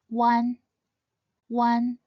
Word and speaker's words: uan: An when pronounced quickly, it should sound like the number one or the one in the word wonder. One one.